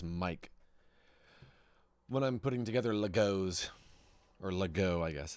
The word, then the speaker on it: Lego: Actually, it's pronounced Lego, if you mean plural.